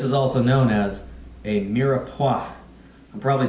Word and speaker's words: mirepoix: This is also known as a mirepoix. I'm probably saying that incorrectly. I'm going to try it out here. Just confirm my saying. Let's see. Mirepoix.